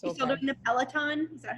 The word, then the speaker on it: Peloton: doing the Peloton? Is that how you say it? Yeah, you should Peloton.